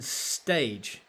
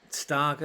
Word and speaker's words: Stage: look out for it's Yen stage or Stager considering his Danish Stager is probably how you pronounce it anyway Stager is a